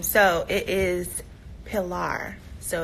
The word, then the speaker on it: Pilar: you just never know um how do I pronounce her name so it is Pilar so it's Pilar janae McKinley yeah and daddy